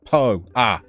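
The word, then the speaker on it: Pau: You were right with Pow when you said about a place being pronounced Poe.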